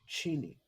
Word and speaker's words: Cheney: you know what's interesting about Dick Cheney he says cheni oh really yeah yes that's C that is the way that they pronounce it CH Yeah well yeah